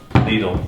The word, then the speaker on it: Lidl: shout out to lidl needle remember all the germans were correcting me because i said little yeah yo i'm saying it right now crown field fruita muesli